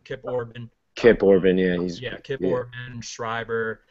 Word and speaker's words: Orban: got Orpid or I know I'm pronouncing his name wrong, Kip Orban.